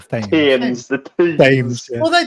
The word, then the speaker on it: Thames: How do you say the River Thames again? The Thames. The Thames.